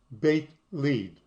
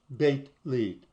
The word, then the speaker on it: Beit Lid: Beit Lid. That's how it's pronounced. Beit Lid.